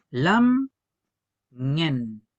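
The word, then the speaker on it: lamngen: Vamos a decir que esta palabra se divide en dos sílabas. Lam ñen, lam ñen, lam ñen.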